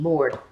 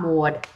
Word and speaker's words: Mord: I understand it's spelled M-O-R-D-E, Mord. It's Mord. It's Mord. It's not Maud.